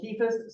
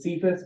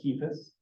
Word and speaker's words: Cephas: Simon Peter, who is also called Cephas sometimes. Some people pronounce it Cephas, but it's pronounced Cephas. Actually, it's pronounced Cephas, but I won't make you do that.